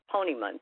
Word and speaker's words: Ponemon: So I have a study that I want to tell you about, and I'm probably not pronouncing this organization correctly. It's pronounced Ponemon, P-O-N-E-M-O-N.